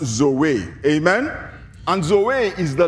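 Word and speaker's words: ζωή: is translated from a Greek word that is pronounced Zoe amen and zo is the life of God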